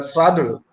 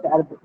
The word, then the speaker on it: Shardul: Yes, Mr. Sradul, I'm Shardul. Yes, sir. pronouncing it correct.